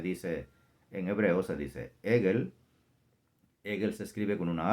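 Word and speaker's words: עגל: Otra vez, becerro se escribe y se dice en hebreo, se dice Egel. Egel se escribe con una ayin, una Gimel y una Lamed.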